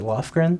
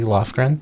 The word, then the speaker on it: Lofgren: one more Christine Christine is it Lofgren yes is that am I pronouncing that correctly lren yeah yes okay perfect um uh